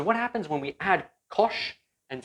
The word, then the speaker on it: cosh: happens when we add kosh and cinch together so i just used an alternative pronunciation we can call this as we can call this guy kosh and we can call this cinch so that is just